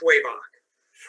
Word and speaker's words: Schwebach: pronounce your last name it's way back way back is the way it's spelled and you're a professor